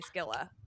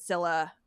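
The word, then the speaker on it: Scylla: to pre preface but I really love the hard C. So I'm just going to say that I say Skila. I know they're both right. Um but just as I say it differently than you. I want to preface. Um and also the Odyssey said Sila and I know that it's not wrong but my brain went I want that hard C sound.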